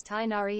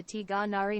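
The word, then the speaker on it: Tighnari: a rainy day what whose name is not pronounced as tinari it is just that English engl doesn't have Arabic letter used in its name it is more similar to tari now that's out of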